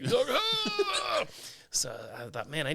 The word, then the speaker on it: Hough: it uh they would didn't know how to pronounce my last name, which is Huff. H O U G H. So, they would say Doug Hug.